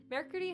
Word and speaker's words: mercredi: Oh my god, I just realized I've been pronouncing Mercredi wrong this entire time. Yeah, if you're gonna go full French, you go mercredi, but, I'm not going to do that all the time, so I just say mercredi.